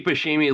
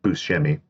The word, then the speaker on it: Buscemi: that is true steve bashimi look always looks like a guy pretending to act like steve buscemi it's buschemi is it yeah i don't believe that